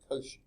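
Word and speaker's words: Cauchy: move on Austine L I think you pronounced his name Koshi I've never seen the phonetic spelling of that but I believe that's what it would be uh pretty sure he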